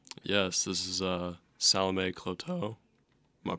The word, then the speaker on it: Cloteaux: to introduce her yes this is uh Salome kloto am I pronouncing your last name right yes okay I